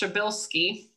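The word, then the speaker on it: Przybylski: it super wrong, but I'm pretty sure it's pronounced Szybilski. It is Polish.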